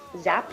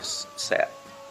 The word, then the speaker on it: Sapp: Zapp? Sap. Zapp. How is Dr. Zapp? Sap. Zach with a C, I'm sorry? If you could spell it, Chief Mack. SAPP. Sap. Zapp.